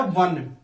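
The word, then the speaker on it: one: इसका उच्चारण होता है वन, क्या होता है, वन।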